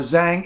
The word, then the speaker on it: Zhang: okay sorry fine whatever the z-h should just be pronounced Jeff just the same as the J that's gonna be your closest sound so if you see